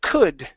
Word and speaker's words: could: And your last word is the word could. Instead of saying cooled, okay, the L is silent. We do not pronounce it in this word.